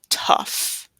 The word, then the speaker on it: tough: This is tough, tough. Like learning English is tough, and it's not T-U-F-F.